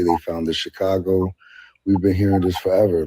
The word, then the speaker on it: Chicago: If you and Chicago isn't even pronounced that way, it's Chicago, and that is tell us about Native American tongue.